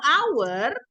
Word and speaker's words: hour: konsonan makanya diawali dengan kalau Our ya cara bacanya kan our makanya dia diikuti dengan